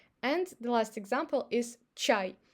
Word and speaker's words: чай: And the last example is чай. If even ch is followed by a, ch is always soft consonant. That's why we pronounce a as ya, чай.